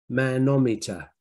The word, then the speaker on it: manometer: So, looks like manometer, right? Manometer, something for measuring men, right? But it's pronounced manometer, manometer.